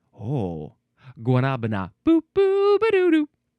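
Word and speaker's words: guanábana: There's an accent on that middle A. So would it be Guanabana? Oh, Guanabana.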